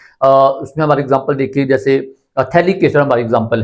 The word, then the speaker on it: phthalic: PHTH हमारा start होता है, ये PHTHALIC एसिड, इस तरह से कहते हैं। तो इसमें हमारा इसे थैलिक कहते हैं, हमारा पीएच क्या होता है, साइलेंट होता है।